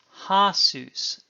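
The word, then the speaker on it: הַסּוּס: Seuss, horse, a horse, ha-Seuss, the horse, and notice again the samek has the presence of a Doggish.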